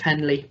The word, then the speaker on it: Henle: is the loop of Henle, or loop of Henle, depending on how you want to pronounce it.